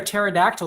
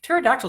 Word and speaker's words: pterodactyl: can't you hear a pterodactyl going to the bathroom because the P is silent pterodactyl is a weird word